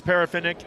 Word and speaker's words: Parafinick: It's Parafinick. There was a Parfinick in the 70s that attended Ripon, so that's where I'm coming up with that pronunciation.